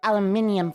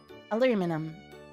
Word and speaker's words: aluminium: microwaved aluminum foil well we pronounced it aluminium foil down here but i know up in the other parts of the world they pronounce it aluminum your cat's in heat